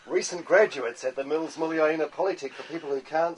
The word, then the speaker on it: Muliaina: Students at the Mills Muliaina Polytech for people who can't say Mills Muliaina will be taught the correct pronunciation from the legendary man himself.